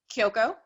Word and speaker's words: Kyoko: And then, am I pronouncing this right? Kyoko? Is that? Kyoko.